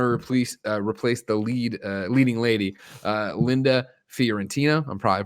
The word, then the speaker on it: Fiorentino: But I want to do Dogma, and I want to replace the leading lady, Linda Fiorentino. I'm probably pronouncing that wrong, but Fiorentino.